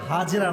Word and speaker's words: হাজার: একটা ভুল ধরাই দি ভালোবাসার সাথে, হাজরা নাই, নাম হচ্ছে বিবি হাজার। না না, আমি আপনার ভুল ধরাচ্ছি ভালোবাসার সাথে, এটা কোনো অপমান নয়। আমরা বলি বিবি হাজরা, না, উচ্চারণটা হচ্ছে বিবি হাজার।